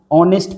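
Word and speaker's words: honest: तो ही इज एन ऑनेस्ट person. यहां पे देखिए एच साइलेंट होता है।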